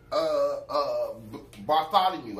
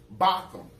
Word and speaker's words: Botham Jean: You took Bartholomew.